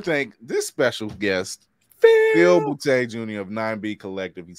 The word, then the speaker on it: Boutte: On Instagram, I am Phil, P-H-I-L underscore Boutte, B-O-U-T-T-E. Yes, my last name is Boutte. If it's not funny, you're not saying it right.